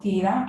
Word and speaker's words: theta: with radii okay so we pronounce that theta and you leave you write it as t h e t a okay theta is the